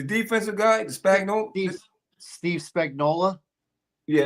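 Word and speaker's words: Spagnuolo: guy the spag Steve Spagnola yeah that guy always get his name wrong I always say spagnolia because I want I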